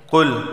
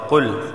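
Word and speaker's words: قُلْ: کو دیکھ لیتے ہیں۔ قل موٹا والا قاف ہے، قل، ٹھیک ہے، باریک کاف نہیں، قل نہیں، قل، ٹھیک ہے، قل۔ اعوذ واو ساکن سے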